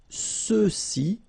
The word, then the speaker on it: ceux-ci: And then for the masculine plural, ceux-ci, okay, remember final X is not pronounced, so you get the sound ce, ceux-ci, and then ceux-là.